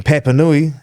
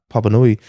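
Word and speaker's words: Papanui: at me and he's just like, you mean Papa Nui? Which is like how a white person would say it. They don't pronounce it properly. And I was like, no, it's Papa Nui.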